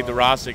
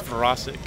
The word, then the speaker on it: Dworaczyk: many different ways, and people say Dworaczyk, and that's what's written down in the media guide, but if you really want to go to the right pronunciation as far as for Polish, how they would say it, it's Dworaczyk. So you got to roll the R.